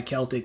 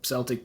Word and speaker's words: Celtic: The card itself, yes, it is metal and it is issued by Celtic or Celtic Bank, depending on where you fall on the pronunciation of that.